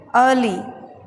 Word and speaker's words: early: Next meaning है EARLY, तो हम इसे बोलेंगे अर्ली। मैंने आहर का उच्चारण नहीं किया है, आपको भी नहीं करना है, अर्ली।